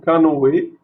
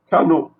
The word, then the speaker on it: canoë: Par exemple, pour le mot canoë, s'il n'y avait pas le tréma ici, on aurait lu canot, canot.